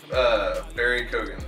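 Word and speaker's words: Barry Keoghan: Barry Kogan. Very good. Oh, that's how you pronounce it.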